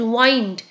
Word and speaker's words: wind: wind wind means air but if we pronounce it in a different manner that is wined wind means in circle